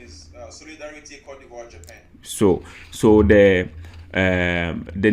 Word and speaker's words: Côte d'Ivoire: He says the pronunciation is La Côte d'Ivoire in French.